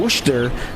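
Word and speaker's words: Worcester: uh they all they had a um they were all based on the East Coast all their a AHL teams so the the Sharks team was in wer Massachusetts oh wer I love how they pronounce that that because it's spelled w o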